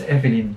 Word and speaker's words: Eveline: That's Danella, and for the last, Indonesian Next Top Model, can you pronounce? Eveline F? Yeah, it's Eveline.